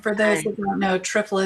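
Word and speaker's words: triphala: those who don't know trifa is spelled with a pH so it's t r i p h a l a correct I have Amanda welcome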